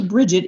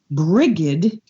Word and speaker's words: Brigid: and i am told that say calling her bridget is incorrect she's also on on the first of february the very first day her name is actually pronounced brigid or i guess in gaelic but i can't